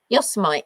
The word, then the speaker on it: Yosemite: Yosemite, yeah.